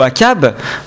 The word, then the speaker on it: Achab: qui ne savent pas Achab ou à cab on prononcerait ça d'ailleurs plutôt à CAB est un roi et